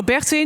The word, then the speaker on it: Bertine: Hi, I'm Bertine or Bertine, depending on how you would like to pronounce my name.